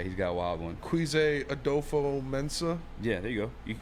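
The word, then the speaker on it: Kwesi Adofo-Mensah: Quise Adolfo Mensa.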